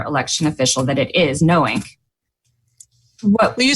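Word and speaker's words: KNOWiNK: by a former election official that it is knowing what will you spell that because it's it's kind of a sure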